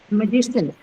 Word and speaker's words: magician: She, ma'am, on On the second syllable, right? On G. Magician. So G takes it because that is a syllable right before the suffix shin.